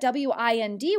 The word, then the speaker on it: wind: now still got that w-i-n-d word in it but it sounds differently listen to this sentence the wind blew this time we pronounce the word wind it does not fit